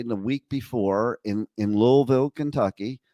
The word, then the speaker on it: Louisville: in in Louisville Kentucky I I keep trying to say it right I think I'm saying it right now but probably not uh like I grew up with Louisville but I have to learn how to put that invisible L into the word okay uh but the